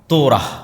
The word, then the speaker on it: তোরাহ: তোরাহ বলে ইহুদিরা উচ্চারণ করে যে তোরা যখন তাওরাত দেওয়া হলো।